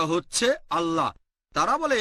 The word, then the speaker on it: আল্লাহ: একইভাবে আমরা জানি সঠিক উচ্চারণটা হচ্ছে আল্লাহ। তারা বলে এলা, আমরা বলি আল্লাহ, সমস্যা নেই, সঠিক উচ্চারণটা হচ্ছে আল্লাহ।